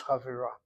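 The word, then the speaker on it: חֲבֵרָה: The accent is now over the last syllable. This kamatz is two places removed, reduced to shvana. Chet cannot take a shvana, replace it with one of the chatafim, the chatapatach normally, and so it is chavira.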